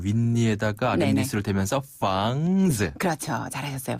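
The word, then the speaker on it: 房子: 이 아랫입술을 힘을 조금 주고 윗니에다가 아랫입술을 살짝 대면서 房子. 아, 윗니에다가 아랫입술을 대면서 房子.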